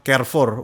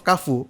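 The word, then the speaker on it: Carrefour: Kafu bacanya KF Kafu. Kfu.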